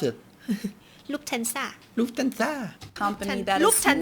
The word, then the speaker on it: Lufthansa: How do you pronounce it? Lufthansa.